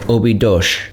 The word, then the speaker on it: Óbidos: After touring the castle both inside and out, we grabbed a taxi back to our car and drove up to Óbidos, or as locals say, Óbidos.